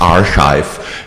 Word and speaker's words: arXiv: it's our just arive if you want pronunciation guide It's archive so it comes from the Greek letter he uh like the